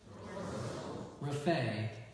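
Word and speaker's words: raphe: Raphae?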